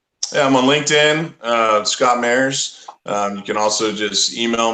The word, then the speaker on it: Mairs: And that's Mairs, M-A-I-R-S, not mayor as in the governmental figure of a city, right?